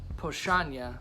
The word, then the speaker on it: Powstanie: in there but but it looks like palestinian but it's pronounced poshanya it's a polish word and actually so you